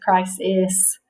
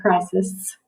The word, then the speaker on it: crisis: especially to say if sometimes i say christ is but most people say crisis sometimes it comes out a little more like the short eye all right you ready